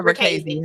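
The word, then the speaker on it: Richese: It's Ricchese. Okay. Ricchese. The author said he don't care how you pronounce it, but it's one of them.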